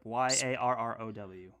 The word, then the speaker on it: Yarrow: um say that one more time charleston yep y-a-r-r-o-w okay so then yarrow is uh compared like